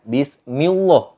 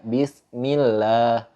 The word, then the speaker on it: bismillah: Surah al-fatihah ayat pertama bismillah bismillahirrohmanirohim fokus pada kalimat labzul jalalahnya lafal Allah bismillah bismillah nggak dibaca bismillah enggak Tapi harus dibaca bismillah karena dibaca hukumnya itu adalah tartil yaitu tipis jadi lafadz Allahnya itu